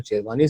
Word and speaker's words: Shirvanee: I hope शेरवानी साहब मैंने नाम जो है सही प्रोनाउंस किया है। जी हाँ, बिल्कुल सही जी किया।